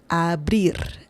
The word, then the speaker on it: abrir: So in this situation we have bri, abrir, abrir, abrir. The last R, the letter R right here. This one is a bit more intense. Abrir.